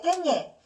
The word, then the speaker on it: 깻잎: 깻잎은 니은 소리가 두 개 던답니다. 깨하고 잎이 합쳐진 거야. 그러면 여기에 니은 소리가 원래는 없었는데 덧나죠.